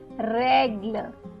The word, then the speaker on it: règle: Okay, so this one is pronounced like the Hindi A, if you know, right? So let's have a look to understand this better. The previous one was pronounced as A. This is pronounced as A. So the first one is règle. Règle meaning rule. Très.